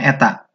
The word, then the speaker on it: eta: Jadi ini adalah dibacanya eta.